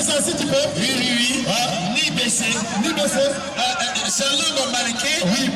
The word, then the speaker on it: NIBECE: Ni baisser. C'est un nom marqué. Oui, ni baisser. La prononciation, c'est ni baisser.